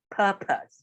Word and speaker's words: purpose: far as i'm concerned purpose right so that's the easiest way to pronounce it um so please avoid using the o as an o sound so per as a